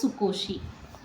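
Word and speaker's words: 少し: எப்படின்னா, இந்த காஞ்சியை போட்டுக்கிட்டு இதோட ஷீயை போட்டுக்கணும், ஷீ இப்படி போட்டுக்கிட்டோம் அப்படின்னு சொன்னால் இதை எப்படி ப்ரொனவுன்ஸ் பண்ணணும்னா சு கோ ஷீ. இந்த நாய் வந்துருச்சுன்னா இது சுக்கு நாய், ஷீ வந்துருச்சுன்னா சுக்கோஷி, சுகோஷி.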